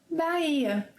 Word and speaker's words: Bahia: Another curious occurrence is in the word Bahia. Bahia is one of the Brazilian states. So see, we have the letter H in Bahia, but the letter H is silent.